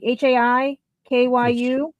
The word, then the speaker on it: Haikyu: It is H-A, like high, like HAIKYU, double exclamation point, number 10.